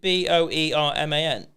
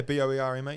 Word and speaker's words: Boerman: Boerman? That is insane that you got that straight away. Yeah, Boerman. Yeah, Boerman. Boar like boring.